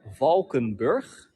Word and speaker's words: Valkenburg: just gonna say it on the Dutch way Dutch way it is Vulcan birth Falcon birth or vom